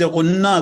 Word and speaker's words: غنہ: آپ دیکھیں کہ لفظ غنہ کو پڑھنے میں بھی اگر ہم اس کو صحیح تلفظ سے پڑھیں غنہ، تو یہ لفظ غنہ